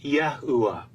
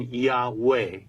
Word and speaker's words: YAHUAH: that defines for us how we should pronounce the last letter He in the divine name, which is always spoken as a short A or an Ah sound, and not the long A sound we hear in Yahweh.